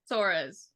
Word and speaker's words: Soares: So with the 4th pick, Washington traded to Dallas for Stephanie, pronounce her last name. Soares.